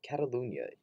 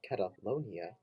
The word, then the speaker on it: Catalunya: to talk about is Catalunya there's a lot going on there and here's what you need to know so Catalunya or Catalonia in the English pronunciation is an autonomous region